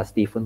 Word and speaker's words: Stephen: Dibaca Stephen kok biasanya.